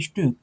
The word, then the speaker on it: Stück: এটা Stew হ্যাঁ স্টুক হ্যাঁ, এখানে কিছুটা ঠোঁট গোল করে স্টুক স্টুক অর্থ হয় যে